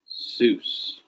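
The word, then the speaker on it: Ἰησοῦς: And you pronounce it kind of quick, so it's like a long E, a Jesus. Jesus. And it ends up sounding kind of like a Y, which this is the Greek transliteration of Yeshua.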